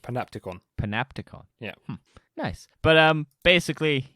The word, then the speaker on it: panopticon: I can now say the word is pronounced panopticon.